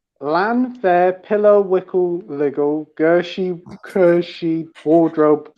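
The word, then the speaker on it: Llanfair: well I know the first bit is actually because it's Welsh is pronounced plan the middle bit [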